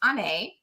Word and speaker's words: Onae: Paul being nice um actually my name is pronounced on a um and it's Celtic